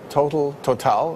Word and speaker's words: Total: Total, I should say, pronouncing it the French way, Royal Dutch and BP, all among the favorites in European trading.